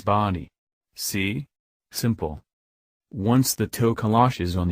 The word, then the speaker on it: Tokoloshe: Its name is the Tokoloshe, pronounced Tokoloshe.